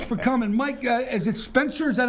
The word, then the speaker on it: Spencer: Mike, is it Spencer? Is that how you pronounce it? Spencer, yes.